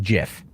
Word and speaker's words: GIF: people say like the the creator of it said that it's pronounced jiff right and then like